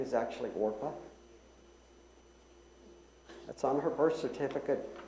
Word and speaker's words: Orpah: How many of you know that Oprah Winfrey's name is actually Orpah? That's on her birth certificate. People mispronounced it. Oprah.